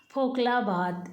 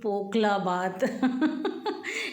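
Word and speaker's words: pakhala bhat: और ये हम खा रहे हैं फोकला भात, नहीं जी पोकला भात एक्चुअली हम लोग इसे वाटर राइस कहते हैं।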